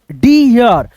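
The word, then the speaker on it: deer: ऐसे पढ़ेंगे जैसे यहां पे अगर आप ऐसे डर पढ़ते हो तो ये पढ़ने का तरीका गलत हो हो गया। अब इसको हम पढ़ेंगे हम लोग दोस्तों डी य डी यर ठीक है य का साउंड थोड़ा सा रहेगा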